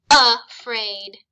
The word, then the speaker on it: afraid: Using our schwa sound, this is afraid. Now it's not spelled with a U, it uses the A to make the schwa sound.